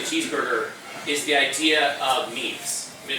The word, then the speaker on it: meme: In English it isn't pronounced meme, it isn't pronounced, there actually is a French word named meme, but it's intended to rhyme with the word gene.